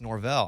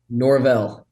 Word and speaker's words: Norvell: hey we're gonna get coach norbol on and then we're like no it's Norvell I said well I'm from Arkansas we would say normal how do you say your last name Norvell and I I played